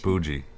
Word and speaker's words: bougie: So to pronounce it properly, actually to call it boogie is not right. It's bougie.